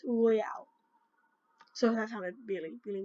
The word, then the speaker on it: Royale: For a Destiny Knot, go to the Battle Royale, not Royal. It's Royale.